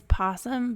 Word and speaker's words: opossum: It is possum, but it's spelled with an O.